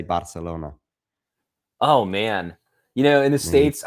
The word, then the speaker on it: Barcelona: Your pronunciation of Barcelona is pronounced in the Spanish way. I think Catalan would say Barcelona.